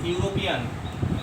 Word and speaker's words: European: E is vowel, but according to pronunciation, it is U.